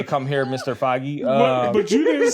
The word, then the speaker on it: Feige: Okay, how would you pronounce his last name? It's Feige.